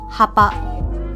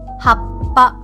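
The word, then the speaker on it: はっぱ: So for the word happa, it should not be hapa. Okay, so I'm going to pronounce the correct way and the incorrect way to pronounce this word. Happa, happa. Okay, so you notice that for the correct way to pronounce it, for the character before the small tsu, you sort of pinch the ending of the word. So it's happa.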